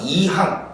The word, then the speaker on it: 이항: 그거는 짧게 발음해야지. 이항. 요거는 이항, 두 개의 항이라는 뜻입니다.